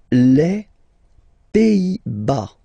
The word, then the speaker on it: Pays-Bas: Les Pays-Bas. Final S here, not pronounced. Same thing here. Pays, pays, and then bas. Les Pays-Bas.